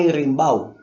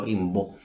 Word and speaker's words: Rimbau: el tiemp Enrique Gaspar rimbau No tengo idea cómo se pronuncia eso pero como es español imagino que se pronuncia rimbau y no rimbo como como serí en francés o algo así escribió en 1887